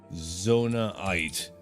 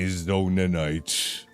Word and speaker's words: Zonaite: Because I know the way that I say it is not what it actually says. Zonaite. I say Zonanite. It's not quite the same thing.